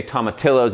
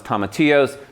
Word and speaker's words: tomatillo: I'm gonna say tomatillos even though it's tomatillos because I like to mispronounce things even on shows.